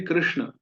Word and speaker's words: कृष्ण: तो आप जब भी कृष्ण, कृष्ण, कृष्ण उच्चारण करें तो ध्यान रखें री, वो जीभ पीछे की ओर मुड़े, कृष्ण, कृष्ण।